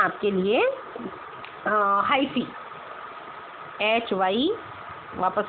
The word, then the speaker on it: hyphae: ये कहलाते हैं आपके लिए हाइफी, HY, वापस से लिखते हैं इसकी स्पेलिंग को, HYPHAE, हाइफी, ये थ्रेड लाइक स्ट्रक्चर।